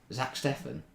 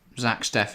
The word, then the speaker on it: Steffen: Zach Steffen? No, Ortega. Yeah. Interestingly, if you put Zach Steffen and then Stefan Ortega I should have said Steffen and I'd been right either way.